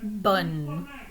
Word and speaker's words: bonne: And by contrast, bonne.